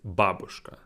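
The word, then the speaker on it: бабушка: in english culture babushka is like the name of the russian grandma but the stress is wrong it's babushka babushka and going back to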